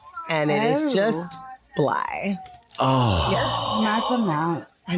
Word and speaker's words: Blythe: We've all said Blythe forever The with a THE TH. is silent, and it is just Blythe.